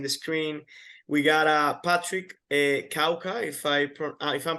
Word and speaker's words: Kawka: We got Patrick Kawka, if I'm pronouncing your last name right. How do you pronounce it, Patrick? It's Kafka, but that's pretty good.